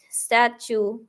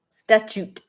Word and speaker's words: statute: is unclean it shall be a Perpetual stature statue St statue to statue statue is that how you say it right there statute statute I don't know Perpetual statute I guess